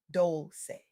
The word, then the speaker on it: Dolce: I'm your host, Dolce, pronounced dol-say, like sweet softness whispered in French.